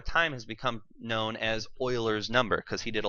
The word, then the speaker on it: Euler: Yes, that is not pronounced Euler, it is pronounced Euler. If I hear you pronouncing it Euler, I will shun you forever.